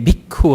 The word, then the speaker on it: bhikkhu: he actually said Panchavaggiye bhikkhu amantesi. He actually had a short U at the end here of the bhikkhu.